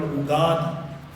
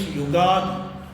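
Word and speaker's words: Yugadi: There is no such word called ugadi. It is Sambats. It is the beginning of a new satsara. Therefore, it is yogadi.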